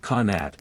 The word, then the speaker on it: qanat: A qanat, pronounced qanat, is an underground aqueduct, and it's one of the unsung heroes of Persian drink chilling and general staying aliveness.